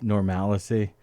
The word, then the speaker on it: normalcy: I mean, you could pronounce it either way. And more to the intonation. Normalcy, you're adding a vowel. Normalcy. Normalcy. No, you're just pronouncing that A differently. Normalcy. Normalcy. Normalcy. Normalcy. You're adding a syllable.